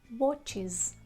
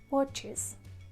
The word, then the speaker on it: watches: And when the word finishes in ch, sh, s, z, x, you pronounce this ending like is.